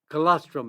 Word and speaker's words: colostrum: Colostrum is. It's spelled C-O-L-O-S-T-R-U-M, colostrum.